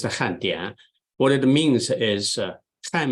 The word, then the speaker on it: 汉典: So it's in English, it looks like a and in, all right, but it's pronounced Handian.